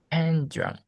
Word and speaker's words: pendulum: So which vowel is the strongest? Which syllable is the strongest? U, E. Exactly. Pen, Exactly. Pendulum. Which pendulum. is the second strongest? Pendulum. Actually, it's the last U. It's like this. It's like 3-1-2.